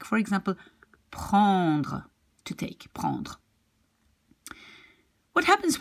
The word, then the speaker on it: prends: So it will be, you will write like prends, but you pronounce it like prend.